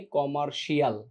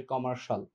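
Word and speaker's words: commercial: এছাড়া আরেকটা জিনিস আছে, আমরা বলি না কমার্সের স্টুডেন্ট, তার মানে কমার্শাল, বাণিজ্যিক মানে কমার্শিয়াল, আমরা শিয়ালটাকে বলি, এটা উচ্চারণ হচ্ছে কমার্শাল।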